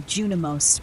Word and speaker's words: Junimos: Some say the Junimos, pronounced junimos, are their guardians.